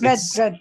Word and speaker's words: read: Okay, it's read. Okay, yes. the spelling is the same, but the pronunciation is different. It's read, read. Same spelling, different pronunciation. It's pronounced as read.